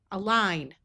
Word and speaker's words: align: Ignas has a long i sound with a silent g. Align.